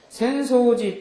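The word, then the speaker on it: 浅草寺: 센소지 또 이유 아사쿠사 여기 앞에 나오는 절 이름에서는 똑같은 우리말로 읽으면 야틀천자에다 풀조차를 써서 천초라고 써놓고 센소지라고 있는데 그 뒤에 나오는 단어에서는 뭐라고 읽어요? 아사쿠사라고 읽는 거죠.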